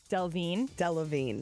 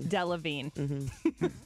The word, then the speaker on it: Delevingne: week and the fact that I could not pronounce her name. I know it now. Cara You got it. Delevingne. Delevingne.